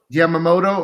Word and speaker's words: Yamamoto: They get a matchup against Jordan Yamamola. Is that how you say it? Yamamoto.